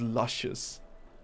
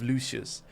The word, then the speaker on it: Lucius: I must have gifted them about 70 bucks of rose gifts and they kept pronouncing my name as Luscious. That's where that comes from. They kept saying luscious instead of Lucius.